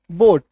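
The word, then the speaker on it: boat: rule है ठीक है जैसे ये देखो बी ओ ए टी बोट अब यहां पे देखो ए ना साइलेंट हो गया ए जो है वो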